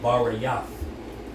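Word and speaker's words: ברית: This is the word covenant in the Hebrew. And it's pronounced Barayath.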